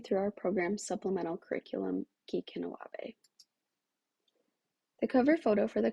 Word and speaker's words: Gikinawaabi: The curriculum is pronounced Gikinawaabi.